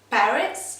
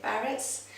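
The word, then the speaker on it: PVRIS: I think it's Parrots, like the A is upside down. Basically it's P-V-R-I-S, but people I think say Parrots.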